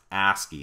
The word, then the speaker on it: ASCII: is something called ascii the ascii this is pronounced ascii and it stands for the american standard code